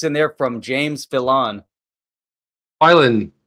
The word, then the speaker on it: Filan: Filan is the way you pronounce it.